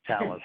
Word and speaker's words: Thales: we are and also at least how to pronounce our name which is talents like Alice we're a French company headquartered in